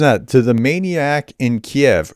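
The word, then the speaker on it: Kyiv: you right listen that to the maniac in Kiev it's actually pronounced Kei by the way and he's not a maniac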